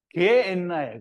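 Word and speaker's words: Γέεννα: 근데 이제 이거를 헬라어로 음역을 한 게, 소리 나는 대로 읽은 게 게엔나예요. 게엔나. 그래서 게엔나는 뭐 특별한 것이 아니고요. 그냥 흰놈의 골짜기를 게엔나라고 하는 거고요.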